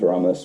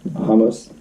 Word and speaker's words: Ramos: I thought it was Ramos, but apparently where they're from, it's pronounced Hamos.